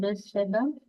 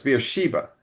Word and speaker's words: Beersheba: And remember, in English, often the emphasis is brought forward. So it's not Beersheba, it's Beersheba. No, sorry, it's Beersheba.